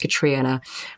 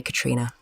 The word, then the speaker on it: Catriona: n a yes it's it's Scottish means Purity it's um pronounced katriina um but I tend to say just call me Katrina but there is an o in there that's wonderful so my